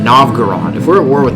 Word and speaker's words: Novgorod: we're at war with novograd or no not no it's not an open ground i keep pronouncing wrong novgorod if we're at war